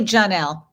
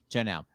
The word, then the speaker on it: Jonelle: Are you pronounced Jonelle or Jonelle? It's actually Jonelle. Jonelle.